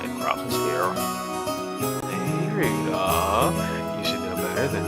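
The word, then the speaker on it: Rudolf: anyways the guy's name is pronounced Rudolph thank you you must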